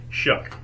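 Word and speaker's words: Shough: u g I finally found out it is pronounced shuck why I don't know but it's shook so Tyler Shu um I I watched a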